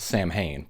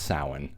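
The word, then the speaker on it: Samhain: Lumis pronounces it Sam Hayne, but it's pronounced sin.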